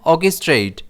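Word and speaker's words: orchestrate: इसे हम प्रोनाउंस करते हैं ऑकस्ट्रेट जिसमें स्ट्रेस ओ पर रहता है।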